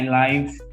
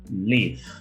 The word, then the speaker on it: live: point out this bear because many guys got confused at a time of pronouncing this bird life teacher i life no don't make this mistake anymore please i live okay i live in tokyo